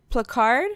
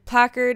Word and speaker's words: placard: but we can't have a plack plack plack card my first emollient all right or a plaque art placard placard is out yeah that's how you say it uh we can have